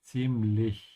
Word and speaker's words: ziemlich: For the Z in German, it sounds like a T. And also, your mouth should be open at the end of Ziemlich.